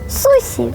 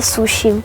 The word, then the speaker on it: суші: щодня робить фатальну помилку Ми неправильно вимовляємо назву цієї чудової страви адже японці називають її сусі а не суші їм таке перекручування не